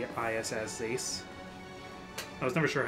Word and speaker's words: Zeiss: one z let me see z e is zees i was never sure how to pronounce that name oh zeiss nice um heath and vita cormag jill haar